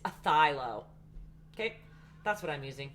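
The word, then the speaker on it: phthalo: it is a thilocylon you don't pronounce the ph it's a thylo okay that's what i'm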